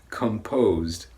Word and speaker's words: composed: it's composed it's pronounced composed the first one was compost the second one is composed for the second word we're stressing the second syllable and the sound is